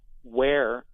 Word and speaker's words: Weare: And what's interesting about Ware, New Hampshire is that, and that's the name of the town, Ware, New Hampshire, but it's spelled W-E-A-R-E.